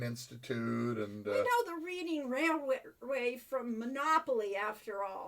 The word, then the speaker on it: Reading: We know the Reading Railway from Monopoly, after all. But it's Reading. Yes, well, that's why it's spelled Reading.